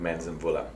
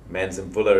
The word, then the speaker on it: Manzimvula: an organization called manzanbulla manson bulla is an interesting name a lot of people look at it and say how do you say that well it's actually said phonetically exactly like it is written and what it means